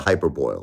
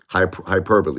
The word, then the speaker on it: hyperbole: to, do what's called a little, like a hyperboil or whatever. Hyperbole, excuse me, I said it wrong.